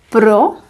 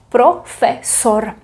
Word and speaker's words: profesor: Profesor, because o, e, o. Profesor.